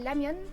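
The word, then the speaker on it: 라면: Donc là, je vais lui faire goûter les ramen. D'ailleurs on dit ramyeon d'ailleurs en coréen. Le R se prononce L.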